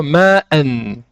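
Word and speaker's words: مَعًا: Ceci également si le tanwin n'est pas suivi du alif, comme dans le mot ma'an, qui se prononcera donc ma'a si on s'arrête.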